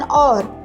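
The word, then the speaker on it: hour: Number one सारा had returned after N और इस सेंटेंस में हमने इस वर्ड को और पढ़ा है। और नहीं पढ़ा क्योंकि एच साइलेंट लेटर है।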